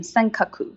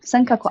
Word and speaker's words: Senkaku: uh in taiwan so senkaku is the name used in japan uh so that's you can see the the pronunciation is actually japanese pronunciation senkaku senkaku islands so it's quite